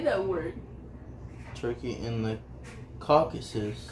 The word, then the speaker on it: Caucasus: Turkey and the Caucasus. Caucasus.